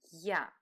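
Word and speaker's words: я: write it you and this is litter yeah similar to the sound at the beginning of the word young in English yeah is the last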